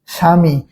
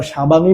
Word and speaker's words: স্বামী: আমরা এই স্বামী শব্দের উচ্চারণের সময় কি আমরা স্বাভামী বলি, স্বাভাবিক কি বলি না, স্বাভাবিক বলি না।